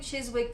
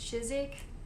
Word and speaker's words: Chiswick: this label incorrectly so i was saying chiswick before but they said it's pronounced chizik hopefully that's correct and